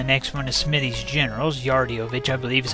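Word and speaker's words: Yaridovich: fused into the next one of smithy's generals yardiovich i believe is how you pronounce his name the battle against him was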